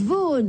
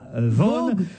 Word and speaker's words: Vaughan: Ah, vous dites Vaughan. Oui. Oui, parce que ça s'écrit Vaughan. Non, c'est comme Somerset Maugham.